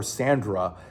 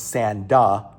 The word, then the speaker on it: Sanda: There's actually a mistake in there where they call her Sandra, but it's Sanda.